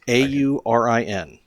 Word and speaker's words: Aurin: A U R I N. I can never pronounce it.